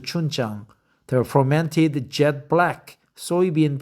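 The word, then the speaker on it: 춘장: It extracts a savory sweetness only amplified by chun jang pronounced chun jang the fermented jet black soybean paste that's a fried in the fat then thinned into gravy for the noodles.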